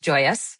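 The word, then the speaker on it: Joy-Us: It's spelled j o y {dash} u s, joy us, joyous. Love it.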